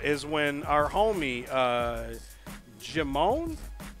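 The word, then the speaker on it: Djimon: when our homie uh jimon I think the D is silent jamone Titus is his name in the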